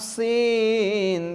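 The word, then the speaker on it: سين: ফোঁটা ছাড়া তিন দাঁত যদি হয় তার নাম সিন তার নাম সিন ফোঁটা ছাড়া তিন দাঁত যদি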